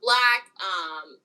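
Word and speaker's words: 6LACK: I love 6 pronounced Black.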